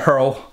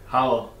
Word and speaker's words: Hywel: Hywel, Hywel, is going to drive back home.